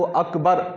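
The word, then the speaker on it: أكبر: इसके अलावा अल्लाह हु अकबर जो अकबर है इसके अंदर भी काफी लोग बा को खींचते हैं या फिर रा को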